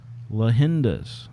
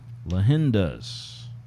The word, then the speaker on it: Leyendas: you how you pronounce lahinda's lahendas and it's spanish for legends of course lahinda's if you google it